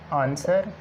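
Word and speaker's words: answer: इन examples पे गौर करें तो W के बाद जब R आता है W साइलेंट हो जाता है, या W के बाद अगर कोई H आ जाता है तो भी W साइलेंट होता है।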